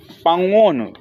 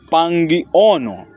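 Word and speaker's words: pang'ono: Sim, o problema, por exemplo, pangono.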